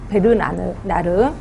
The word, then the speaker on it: 베르나르: 자, 그 다음에 제가 발음을 좀 잘못했나봐. 버나드를 했는데 그게 아니라 베르나르래요. 베르나르.